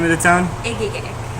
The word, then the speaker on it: Egegik: Egegik. Egegik. Yes. It's kind of like Egegik. Yes. It's Okay. pronounced like eyes, but it's spelled with E's. Okay. It's pronounced like eyes, but with E's. Okay. Egegik.